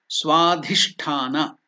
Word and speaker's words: Swadhisthana: Swadhisthana. So dhi is Mahaprana. That's why more energy is used.